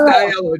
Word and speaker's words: DiLello: Yeah, Diello. It's pronounced Diello.